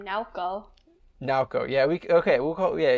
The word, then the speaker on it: Nao: now the present versus now the person um because her name is n-a-o but it is also um pronounced we could call her by her full name naoko naoko yeah we okay